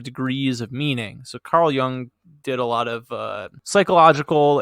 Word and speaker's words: Jung: He's talking about dream interpretation and quotes Carl Jung. And then, is that how you pronounce it? Jung? It Jung? is. Is it? Okay. Good. Jung.